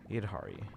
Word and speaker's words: Yidhari: Y I D H A R I. I don't even know if I'm spelling right, but I'm saying it right. Idari.